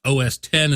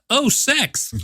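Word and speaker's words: OS X: finally everybody understands that that X is a Roman numeral and it's supposed to be pronounced OS 10 and not Oh sex sex haha now that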